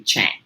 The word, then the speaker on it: Tschang: my name's chinese name it's a german spelling of a chinese name and the ts is silent so it's a little tricky it can be shang but it's actually chang so i just want